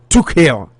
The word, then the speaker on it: Tuchel: Ken Frederick say German pronunciation of the Chelsea manager is Tuchel.